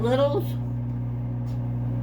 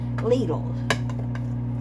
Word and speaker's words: Lidl: Some people call it Littles. Some people call it, the actual pronunciation is Lidl's.